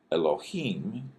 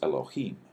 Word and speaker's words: Elohim: and this is El now notice you got L and then this is a kind of a long o sound and then H at the end so eloh and the plural form of this is Elohim so you can see